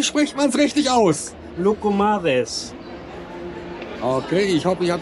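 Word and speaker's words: Loukoumades: Wie spricht man es richtig aus? Lucumades.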